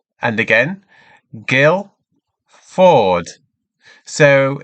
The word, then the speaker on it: Guildford: how this is pronounced Gail Ford and again Gill Ford so in Guildford we do not pronounce the d so it's straight on Gill then Ford great so let's have